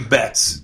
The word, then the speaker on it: Betts: hard isn't it it is hard it's actually pronounced bets be ETTs bets and where are you from I'm from Montreal